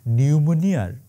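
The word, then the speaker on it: pneumonia: শেখ হাসিনার দশা এখন নিউমোনিয়ার ইংরেজি বানানটা আছে না নিউমোনিয়া ওইটার পি এর মতন মানে থাইকাও নাই আর কি তাহলে আমার একটা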